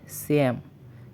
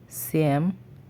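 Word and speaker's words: семь: বলছি শেষ শেষ বা ছয় পরবর্তী নাম্বারটি হচ্ছে স্যাম স্যাম বা সাত আবারো বলছি সিয়াম বা সাত পরবর্তী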